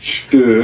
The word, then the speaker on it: Steyr: As I understand it's pronounced Steyr.